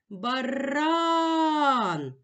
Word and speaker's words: баран: визначимо наголос покличемо слово баран наголос падає на другий склад наголошений склад ран ноголошений